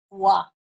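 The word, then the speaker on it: は: esa partícula se escribe como hoja pero se pronuncia gua esta es la partícula que es que hemos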